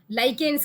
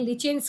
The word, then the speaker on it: lichens: लाइकेन्स कह लें, लिचेंस कह लें, जैसे जो मर्जी आप वो कर लें, स्पेलिंग सही लिखें, ठीक है।